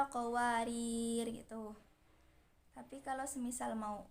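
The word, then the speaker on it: قواريرا: Maksudnya kalau mau wasol ataupun waqaf, alifnya tidak dibaca, jadi meniadakan sifat alif. Jadi kalau mau waqaf bacanya seperti ini, qawarir qawarir gitu.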